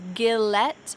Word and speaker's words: Gillette: maybelline maybelline gillette gillette don't say gillette instead we say j gillette colgate now this one